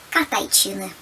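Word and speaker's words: катайтчыны: Катайчины. Видите, да? Катайчины. Пишется тч, а читается ч, две ч.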